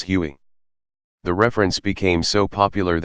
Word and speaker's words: Huey: a nickname derived from its designation of who won which came to be pronounced as Huey the reference became so